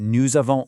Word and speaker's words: nous avons: Remember that nous avons liaison there.